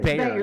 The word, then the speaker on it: Bayer: Bayer, yeah, like Bayer, of course.